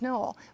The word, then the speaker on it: Noel: love finds you and noel missouri and actually the town's name is pronounced null just as this one is not pronounced humble it's pronounced humble that one's pronounced null but it's also can